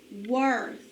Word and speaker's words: worth: sound it out er worth why didn't this fire say er in this word it is w remember that bossy w makes that say er instead of or what word worth